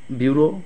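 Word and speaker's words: bureaux: ফাঙ্গাসেস formula ফরমুলি tableau ট্যাবলোস এখানে এস এর উচ্চারণ হয় extra ট্যাপলস last one বিউরো বিউরো বিউরো বিউরো এখানে এক্স এর কোন উচ্চারণ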